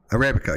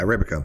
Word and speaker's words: Arabica: Arabica. Yeah, Arabica.